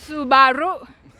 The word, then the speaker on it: Subaru: ง เ ร า Subaru so you like a roo like kangaroo Like a kangaroo what else I think